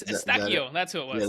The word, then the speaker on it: Eustáquio: Estilquito. Oh, it's Eustáquio.